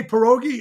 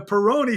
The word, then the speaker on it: Peroni: And I say pierogi? I'm sorry, the Peroni stage. Even if it's written down in front of me, I still mispronounce it.